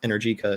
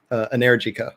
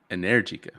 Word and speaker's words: Energica: electric motorcycle company Energica, which I pronounced Energica until like a month ago when I finally heard it spoken the correct way from actual Italians. But Which this is is Energica, apparently. Energica. Okay. Yes, yes. I can't believe how long I was saying it wrong, but it happens when